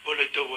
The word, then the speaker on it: Baladewa: Baladewa itu. Baladewa. Nah, kalau diarepkan bacanya kebalik, ya ora terus diwale.